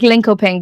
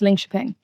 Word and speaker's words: Linköping: So just make it up from the name of the song like No, it's spelled like Linkoping, but apparently it's Linköping. That's what I heard. The locals told me.